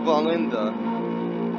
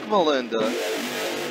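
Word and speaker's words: Wallenda: On July the 18th, 1970, an aerialist of the name Carl Valenda, that's Valenda with a W, the W I believe is pronounced with a V, if I remember correctly, crossed the 750-foot deep Tallulah Gorge in Georgia on a tightrope in America.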